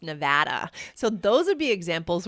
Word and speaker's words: Nevada: like, for example, people from the East Coast pronounce Jessica's home state as Nevada, but it's actually supposed to be pronounced Nevada.